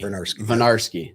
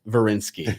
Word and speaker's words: Vernarsky: Vernarsky, not Verinsky. It's Vernarsky.